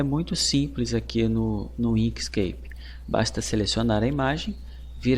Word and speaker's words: Inkscape: Na verdade, a pronúncia certa é essa, Inkscape, não Inkscape, como eu estava falando, mas tudo bem, são detalhes.